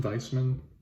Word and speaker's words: Weismann: weissman or what weissman weissman i believe you pronounce it like a v like you do my